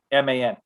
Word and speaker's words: Hafeman: It's spelled Hafe. It's pronounced Hafe. Dum dums. God, people are stupid. the E makes the A say its name, right?